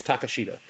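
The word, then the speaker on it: Takeshita: It's literally spelled take shit a. So I think it's Takashita.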